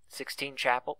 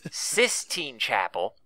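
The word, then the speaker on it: Sistine Chapel: huge mural 16 sir 16 Chapel 16 Chapel or 16th Sis Sis Sis damn I've been saying it wrong for years okay sis Chapel with the huge mural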